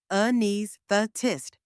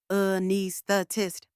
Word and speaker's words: anaesthetist: It's pronounced a-knees-thuh-tist. Let's break it down. First, like the start of umbrella. Then knees, rhyming with knees. Finally, thuh-tist, soft and quick, like therapist without the rap.